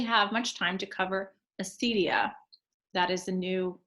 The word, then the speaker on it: acedia: much time to cover Acidia. That is a not new pronunciation, but new for me. As I was pronouncing it like an Italian, Acidia.